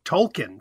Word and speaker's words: Tolkien: despite what you say or do language change Tolkien for example J.R Tolkien he pronounced his name Tolkien um he's dead and